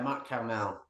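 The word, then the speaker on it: Mont-Carmel: Is that how it's pronounced? Yeah, Mont Carmel. Yeah, Mount Carmel, and there was a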